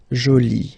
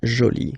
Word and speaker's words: joli: and then you get joli okay so you can see that you put this but then you don't pronounce it okay so it's joli so basically the two